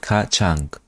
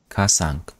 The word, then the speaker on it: kacang: Tempeh kacang. Kasang.